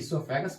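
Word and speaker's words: oesophagus: फैग ो fungus में यहां पर ओ साइलेंट रहता है इसलिए इसको सोफे गस पढ़ते हैं और सोफे गस के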